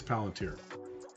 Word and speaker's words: Palantir: beginning shift paleontia or palantir palanter palantir I think it's palantir the pronunciation Tesla been nice